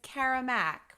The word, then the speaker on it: Kara Mack: I think you pronounced my name wrong. Ah! It's Kara Mack. Kara Mack shoes.